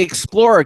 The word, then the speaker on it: Xplor: Anyway, it's called the Explorer cane. That's spelled Xplor.